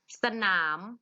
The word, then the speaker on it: สนาม: สลัด อะ ต่อ ไป ณ สนาม อ่าน ว่า สนาม สนาม มี สระ อะมั้ย ไม่ มี สระ อะ แต่ เวลา อ่าน ออก เสียง เหมือน มี สระ อะ เสมอ เลย จิง ไม่ จิง จิง